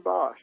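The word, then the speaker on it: Boesch: Young man by the name of Bosch. Did I say it? BOE SC. Is that how you pronounce his name? Yeah. Brennan Bosch.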